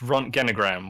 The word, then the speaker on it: Röntgenogram: Oh, that's also it's pronounced Röntgenogram, which is what a X-ray picture is called.